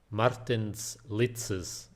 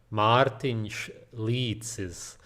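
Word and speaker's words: Mārtiņš Licis: I'm just kidding. It's Martin Leitzes. The reason I'm probably one of the only people online who can pronounce his name correctly is because we are from the same country, Latia.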